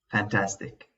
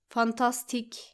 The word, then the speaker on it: fantastic: We actually shouldn't say it like this. Fantastic. It should actually be fantastic. Fantastic. It's the same as saying the word pandemic and balance. We don't pronounce it with an a sound, but with an a sound.